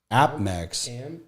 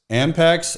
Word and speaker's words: APMEX: The reason I'm bringing this up, and it rhymes with Apex, but it's a different company, is American Precious Metal Exchange, APMEX, Ampex, and you're on TradingView.